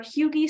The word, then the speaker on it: HUGE: are eligible for our Hugie scholarship, spelled huge, pronounced Hugie, due December 1st, which is our full ride opportunity.